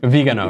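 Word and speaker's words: Viganò: Is that how you pronounce it? Vigano, yeah.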